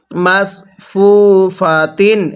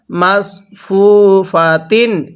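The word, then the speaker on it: مصفوفات: scene উচ্চারণ করি তাহলে সদকে সদের মত করেই উচ্চারণ করতে হবে কিভাবে পড়বো মাসফুফাতিন হ্যাঁ কিভাবে শিখবো মাসফুফাতিন এরকম ভাবে পড়বো এরপরে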